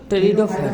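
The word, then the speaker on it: Pteridophyta: कौन हुआ, टेरिडोफाइटा में पी साइलेंट होता है, पी को पढ़ा नहीं जाता, याद रखना।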